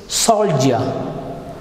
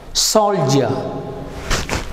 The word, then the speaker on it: soldier: how is the letter d pronounced it is pronounced as so it's soldier soldier you can feel the vibration right so please